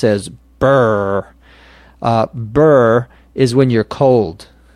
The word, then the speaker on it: brr: here a expression spelled BRR which we would pronounce as BRR BRR is when you're cold and when you're